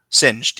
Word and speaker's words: Singed: Um, so we also have I can't remember how to pronounce the name. Singed, is that how you say his name? Singed, yeah.